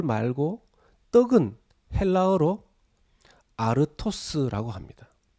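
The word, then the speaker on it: ἄρτος: 합니다 그런데 이도 어디 돌 말고 떡은 헬라어로 a 토스 라고 합니다 발음이 비슷하죠 돌은 l 스 떡은 a 토스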